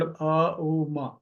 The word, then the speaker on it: ओम: लगा सकते हैं और उच्चारण जो है ओ ओंकार होता है लेकिन इसको हम अ उ म अ बोलेंगे तो पेट अंदर की